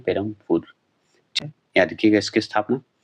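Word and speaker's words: Perambur: आप ध्यान रखिएगा कि ब है, लेकिन हम लोग उच्चारण करते हैं पेरमपुर।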